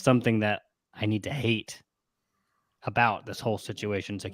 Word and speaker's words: Hayt: and i mean and even edrick says it's it's hate and then he spells it out h-a-y-t of course he would